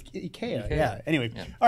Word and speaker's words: IKEA: You know it's pronounced. We talked about this like 3 weeks ago. Ikea. Ikea. It's Ikea.